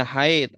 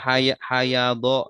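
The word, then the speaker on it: حيض: Contohnya ini kan di sini kau bisa bacanya haid alhaidi ya. Kenapa enggak hayad ya? Iya. Karena kalau hayad enggak ada artinya ya.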